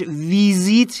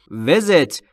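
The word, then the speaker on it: visit: ملاقات کردن عزیز دلم تلفظش ویزیت نیست وزت ای هاش بین ای و ا وزت یعنی ملاقات کردن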